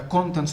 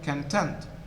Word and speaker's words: content: meaning as in the contents of the book and so the stress is on the first syllable when used as an adjective meaning happy satisfied the stress moves the second syllable content content so i am content